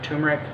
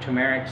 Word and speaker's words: turmeric: natural pain reliever inflammation you've heard of turmeric some or tumeric so however you want to pronounce it for different people